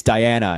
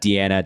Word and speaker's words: Diana: It's Diana. It's Diana. D-I-A-N-A. Yeah, girl, Diana Michelle. Not Deanna, Diana.